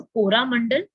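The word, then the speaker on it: Coromandel: So they have change the pronunciation to कोरामंडल, and that's how अब हम इसको कोरामंडल ही बोलते हैं, ठीक है। तो ये यहाँ से एक वर्ड निकल के आ गया, कोरामंडल इज बेसिकली चोला मंडल का डच में प्रोनाउंसिएशन, इसका चेंज कर दिया उन्होंने, अपने हिसाब से कर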